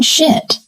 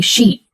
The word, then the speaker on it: sheet: He wanted to say sheet. Let's practice sheet. Sheet. Sheet. Now compare with Uh-huh. Careful with that one.